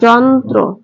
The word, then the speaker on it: যন্ত্র: হয় না যেমন দেখো সংযুক্ত বর্ণের সাথে র ফলা যুক্ত হলে তার উচ্চারণ বিলুপ্ত হয় না অর্থাৎ তার উচ্চারণ হারিয়ে যায় না যেমন দেখো যন্ত্র যেমন যন্ত্র এর সঠিক